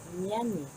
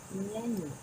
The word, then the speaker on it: nyanyi: Y pequeño añadido es que para el sonido de la letra ñ, ellos usan la N y E y se diría ñañi, ñañi.